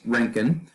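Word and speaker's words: Röntgen: o or as an o e but it's pronounced rankin uh wilhelm rankin discovered x-rays in 1895.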